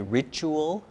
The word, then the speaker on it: ritual: Okay, can you say ritual? Ritual? Ritual. Ritual. Make it three syllables.